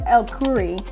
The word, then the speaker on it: Elkourie: If you have not, this is an amazing program that Compass is exclusive to Compass, and today we have Joseph Elkourie, and I butchered your name right there.